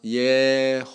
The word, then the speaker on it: 예호바: 해요 어떻게 조합을 하냐면은 아도나이 모음만 떼어내서 여기다 집어넣습니다 그럼 발음이 어떻게 될까요 야 예호바 이렇게 됩니다 예호바 뭐라고요 예호바 이렇게